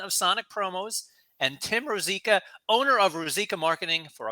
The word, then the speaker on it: Rosica: pronounced That's right. Rosica, but that's Rosica.